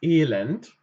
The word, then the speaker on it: Elend: Zum Beispiel guckt bitte mal auf das Elend. Hier haben wir zum Beispiel die Situation, dass ein E lang ausgesprochen wird, E, und ein E kurz, das Elend. Also eigentlich nicht unbedingt kurz, aber normal.